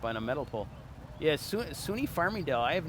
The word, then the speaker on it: SUNY: And it's pronounced SUNY. That's actually something I never knew, the actual story behind that. Yeah, a lot of folks from around the country, they think it's sunny.